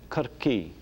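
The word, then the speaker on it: Corcaigh: Cork, Kirkee.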